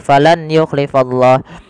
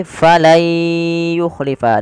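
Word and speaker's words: فَلَن يُخْلِفَ: Maka cara membacanya bukan lagi falan yukhlifallah, tapi menjadi falai yukhlifa. Diganti suara nunnya menjadi suara ya.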